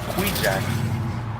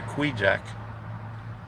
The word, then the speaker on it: Kvichak: that makes a boat called kvichak but they call it Queen Jack they pronounce a quijak I guess that's the uh Eskimo way uh saying it it's